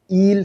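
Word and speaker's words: eel: कोई पकड़ नहीं सकता ईल सीरम या एल सीरम दोनों तरफ से प्रोनाउंस कर सकते हैं।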